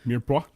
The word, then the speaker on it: Mirepoix: Mirepoix.